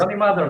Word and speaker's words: Yoni Madar: Because sometimes I see Johnny, sometimes I see Yoni. So maybe I messed it up in the introduction. So if I did, my That's apologies. okay. No, Yoni Madar.